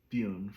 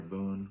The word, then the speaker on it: Bune: So, I'm going to get into the descriptions of Buune first. Buune or boon, whichever, however you want to pronounce it.